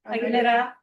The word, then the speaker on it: Aguilera: I know I'm mispronouncing that. I'm not rolling R. How do you pronounce that? Aguilera. Oh, Aguilera. They didn't roll their R's either.